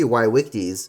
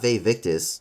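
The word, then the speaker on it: vae victis: the conquered in Latin however the pronunciation is wrong it should be ywies not ve victis rose petals are seen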